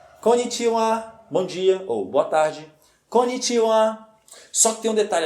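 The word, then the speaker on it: こんにちは: fim temos a sílaba o a portanto a pronúncia da expressão completa é Comitiva connite Ou boa tarde Konichiwa Só que tem um detalhe aqui muito importante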